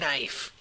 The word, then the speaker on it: knife: like a knife yes people used to pronounce the K and K knife all right let's get